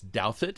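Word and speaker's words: Douthat: maureen dowd ross douthit if you've ever wondered how to pronounce his name it's douthit he's very conservative and farhad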